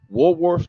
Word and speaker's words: Walworth: from, make sure I say this right, from Walworth to Wartime.